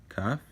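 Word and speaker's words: כַּף: It is pronounced as the letter K if it has a dot in there. Remember? Now, this is the character I was telling you earlier. Not if you remember, but if it has a dot in the middle, it's pronounced as K.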